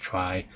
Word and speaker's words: trie: A trie, pronounced trie, or a prefix tree is a tree data structure used to efficiently store and retrieve keys in a data set of strings.